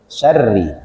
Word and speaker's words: syar'i: antara tebal dan tipis Nah di sini ada huruf ro berharakat kasrah maka dibacanya harus tipis shareit beda ya itu tebal atau tafkhim tapi kalau tipis share Kenapa dibaca tipis karena rohnya berharakat kasrah syar'i tapi kalau berharakat fathah